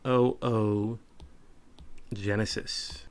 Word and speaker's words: oogenesis: something called oogenesis and it is spelled just like it is said oh Genesis okay what is oogenesis